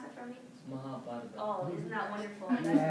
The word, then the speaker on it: Mahabharata: Yeah, can you pronounce that for me? Mahabharata.